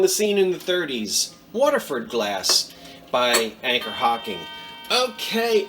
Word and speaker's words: Waterford: me waterford w-a-t-e-r and people in my neck of the woods pronounce that word water so uh being a proud south jersey native i would say waterford but everybody would laugh at that so water waterford glass